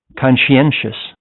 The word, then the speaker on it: conscientious: This word is spelled pronounced this way. Conscientious. Conscientious. Isn't it a little bit hard? Yes, of course. Most even the most native speakers have trouble using this word. Conscientious. It's conscientious. Conscientious. Conscientious. Conscientious. So the stress is on like you know this one. This conscientious. You say conscientious.